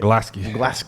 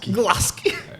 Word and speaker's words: Glasgow: Glasky. Glasky.